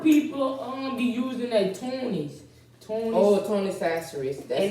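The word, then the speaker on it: Tony Chachere's: Tony Sasseries. And they don't know how to say it. It's Tony Tony Sasseries. Sasseries.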